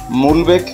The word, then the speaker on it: Mulbek: মুলবেক বা মালবেক ভিলেজ, এই ভিলেজের অ্যাকচুয়াল স্পেলিংটা হচ্ছে MULBEK। কেউ উচ্চারণ করেন মালবেক, কেউ উচ্চারণ করেন মুলবেক।